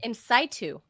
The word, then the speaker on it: in situ: Incitu is what the doctors told me it's pronounced.